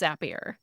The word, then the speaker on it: Zapier: I think it’s Zapier. I always pronounce it Zapier because the little code you build is called Zaps.